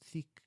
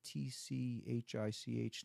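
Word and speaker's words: Thích Nhất Hạnh: I think his name is hard to pronounce, but it's Thich. It's like Tchich, Nhat Hanh.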